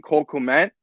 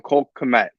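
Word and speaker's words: Cole Kmet: on offense has been cold Clement uh I said his name wrong Cole commit he is struggling right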